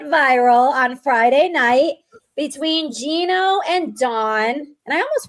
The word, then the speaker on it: Gino: Of course, Gino's offered it's how you say his name, Gino?